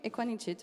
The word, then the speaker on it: Ekuanitshit: pour la bonne prononciationanit pas de cas qui ressemble à un G ok equanit merci beaucoup Maya cousin